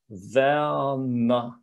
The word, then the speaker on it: Werner: So very slowly I'm saying Werner. Okay, so it drops like something like Werner. Can hear I start with the E and then everything relaxes.